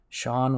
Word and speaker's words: Shanth: is Sean and jetty Sean with a th and I know it's